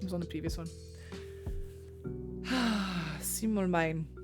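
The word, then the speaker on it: Simbelmynë: Simmelmine. Simbelmune. Oh, hang on. I wrote down how to pronounce it because I couldn't remember.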